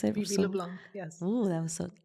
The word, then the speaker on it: LeBlanc: her name is LeBlanc yes did I pronounce it LeBlanc yes oh that was so LeBlanc so so